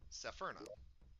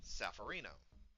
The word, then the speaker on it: Seferno: TikTok, you'll note that my username is not Seferno, it's Safarino. The reason being is that there is a streamer that I follow who, good guy, but he always mispronounced my name as Safarino, and so just as